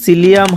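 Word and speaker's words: psyllium: সম্পর্কে আমরা বিস্তারিত জানব ইংরেজিতে এটিকে সিলিয়াম হাক্স বলা হয় বানানের ক্ষেত্রে প্রথমে পি থাকলেও এস এর উচ্চারণ হয় এই ইউসুফ গুলো আপনি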